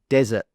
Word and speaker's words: desert: In the first one, the stress is on the first syllable or the first sound, desert, desert.